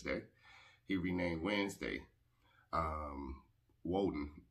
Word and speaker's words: Woden: he renamed wednesday um woden oden pronounced with a w in germanic tribes was walden's day his